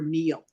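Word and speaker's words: Neele: Because Neil is actually, especially, it's spelt with two E's and an L-E. So it's an unusual spelling, more like needle than a typical Neil, which would be N-E-I-L. Yeah. So this is N-E-E-L-E.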